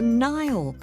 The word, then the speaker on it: Nile: well it's the River Nile which flows through 11 different African countries including Egypt and Ethiopia one way you can remember the name Nile is that it sort of rhymes with crocodile and wonder of Wonders